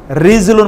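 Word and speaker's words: رَجُل: আর একটা শব্দ সর্বশেষ বলে যাই, রিজুলুন মানে হচ্ছে পা, রাজুলুন মানে কি? পুরুষ, একই বানান, শুধুমাত্র কি উচ্চারণ ভিন্ন, রায়ের উপর জবর, রায়ের নিচে জের।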